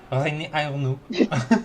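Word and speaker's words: René: Salmo hi Salmo hi okay okay okay please pronounce this name for us um Rene reene okay I was I was right about the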